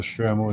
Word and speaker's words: shtreimel: The center of the Stremel is usually flat or slightly domed or covered with fabric for comfort and structure.